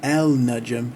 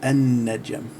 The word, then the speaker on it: النجم: So it becomes an-najm. It's not al-najm, it's an-najm.